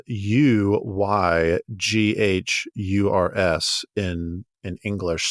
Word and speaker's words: Uyghurs: uyghurs and that's spelled u-y-g-h-u-r-s in in English so it looks like ugiers but it's pronounced uyghurs and these these ethnic